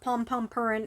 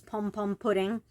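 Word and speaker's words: Pompompurin: so um so no it's not pom pom purin it's just spelled that way in Japanese that's how it's spelled but it is pom pom pudding and he is a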